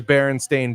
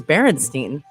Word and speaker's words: Berenstain: what the fudge these Berenstain Bears were talking about. Berenstain. Berenstain. Correctly pronounced. I don't know what universe are we actually in? Are they Steens or Stains? I thought it was Berenstein.